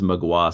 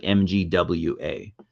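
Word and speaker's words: Mgła: or they're a Polish band but it's yeah pronounced magua so like it's pronounced like mgwa oddly enough believe it or not I know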